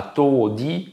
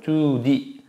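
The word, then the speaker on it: tudi: Et si on met di, donc là on est plus dans l'okinawanais, c'est pas todi, c'est tu avec un U, hein, et c'est long, tu di.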